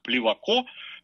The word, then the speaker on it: Плевако: таким знаменитым адвокатом, как Плеваков, Такое ударение, кстати, дает Википедия. Я сам и все мои знакомые всегда делали ударение Плевака. Оставим знак вопроса.